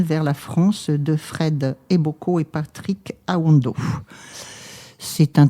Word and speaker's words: Eboko: OK et c'est Fred Eboko. Alors pareil ça s'écrit comme ça se prononce E B O K O.